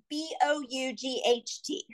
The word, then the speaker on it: bought: store but if I try to sound it out phonetically I'm gonna go about good and I can't it's not right right so a structured